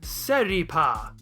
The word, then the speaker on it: Seripa: Take parsley and convert it into its Japanese approximation, which is pasari. Take the first sound and flick it over to the end, and you have Seripa.